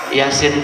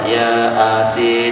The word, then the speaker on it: Yasin: Yasin itu A-nya sampai 3 kan. Kalau orang tak ngerti bacanya apa? Ya Asin gitu.